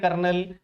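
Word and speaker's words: colonel: में पूछा जाता है क्योंकि हम बोलते हैं कर्नल तो हमें ऐसा लगता है कि आर आएगा लेकिन आर नहीं होता है कर्नल में तो इसलिए कई बार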